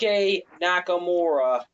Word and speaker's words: Shinsuke Nakamura: Hopefully I pronounce this right. Shinsuke Nakamura. Shinsuke Nakamura.